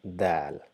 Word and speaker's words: د: base of the back, just touch the tip of the tongue to the back of the incisors and try to produce the sound Dal.